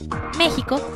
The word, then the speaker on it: México: México significa en el ombligo de la luna del náhuatl. Los aztecas lo pronunciaban México. Los españoles lo escribían México, ya que no existía la pronunciación de la J.